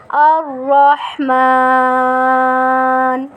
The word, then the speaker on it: الرحمن: Change ہو جائیں گے۔ جب ہا کو ہا بنا دیں گے، را کو اردو کی را کی طرح پڑھیں گے تو اس طرح تلفظ ہمارا نہیں صحیح۔ تو ہم کیا پڑھیں گے؟ الرحمن، دوبارہ پڑھیں الرحمن۔ آگے ہم پڑھتے ہیں